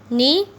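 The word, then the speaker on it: knee: नी में silent letter कौन सा है, के।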